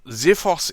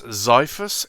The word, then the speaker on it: Xiphos: the ziphos r or ziphos is the uk pronunciation i believe it's zyphus in american and it's just really on how we pronounce the zed or the z so zephos means sword